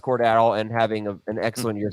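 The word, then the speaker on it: Cordarrelle: expand on Cornell Patterson who is pronounced court at all and having an excellent year so far so go ahead Cordero cordarrell uh how about Naji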